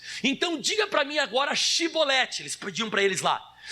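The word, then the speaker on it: Chibolete: Porém eles diziam Sibolete, porque o não podiam pronunciar assim bem. Eles não conseguiam falar a palavra Shi, eles só falavam si, então ficava Sibolete em vez de Shibolete.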